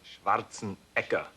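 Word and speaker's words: Schwarzenegger: and schwartzen EA schwarzen actually in Austria they pronounce it schwartzen eeka schwartzen yeah so it's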